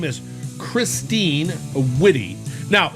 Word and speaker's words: Witte: have a great interview her name is christine witty now it's spelled w i w-i-t-t-e but it's pronounced witty and she's got a major stack card out